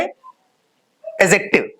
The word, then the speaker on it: adjective: हैं अपने आप में एडजेक्टिव। क्या कहते हैं, एडजेक्टिव। एडजेक्टिव, कई बच्चे इसे एडजेक्टिव भी कहते हैं, लेकिन वहां पर डी साइलेंट होता है, तो हम इसे क्या पढ़ते हैं, एडजेक्टिव।